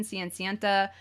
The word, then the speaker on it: Cenicienta: In Japanese, that's the pronunciation, Cenicienta.